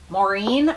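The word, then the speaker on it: Maurine: The Sam Edelman, and it is the Maureen booty, but it's spelled like M-A-U-R-I-N-E, and this is what they look like.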